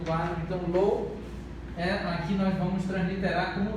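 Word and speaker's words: לא: A pronúncia é lo.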